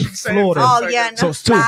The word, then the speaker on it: Florida: So Florida. I say two. Florida. It's actually three Florida. Syllables. Florida. I say Florida. It's Florida. No, the real word is three. But I say Florida. Like two.